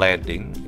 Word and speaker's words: leading: itu kalau bahasa Inggrisnya Leading ya ini ini bacanya bukan reading Yayuk kalau Leading itu memimpin kalau leting itu spasi yakni jadi bestline antara